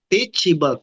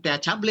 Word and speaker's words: teachable: Teachable. Teach itu semua itu bahasa Inggris. Teach ini dari kata teacher. -nya dihilangin teach tambah able. Teaable dibacanya teachable bukan chable ya bacanya.